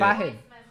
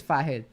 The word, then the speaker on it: Fahad: Fahad just sent me a message on how to pronounce his name. Oh It's shit. Fahed. He told me it's Fahed.